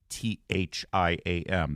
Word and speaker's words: Thiam: Thiam, you want to go to Thiam. That's how it's pronounced.